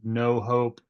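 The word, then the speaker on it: Know Hope: she started a nonprofit called um no hope it's spelled k n o w hope in North Carolina and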